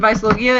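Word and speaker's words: Weisslogia: The white dragon, Vicelogia, is Sting's dragon. It's spelled with a W, but it's German, so it's actually a V.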